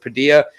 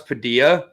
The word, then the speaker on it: Padilla: like how you think i like how you pronounce padilla you pronounce it like quesadilla you go padilla that's that canadian coming out of you man but it is padilla for the rest of us it is but you